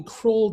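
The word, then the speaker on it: Krull: I want to define what's called the Accrual dimension. So yes, I know that this looks like it's spelled Kroll, but it's actually named after a German mathematician named Oliver Accrual.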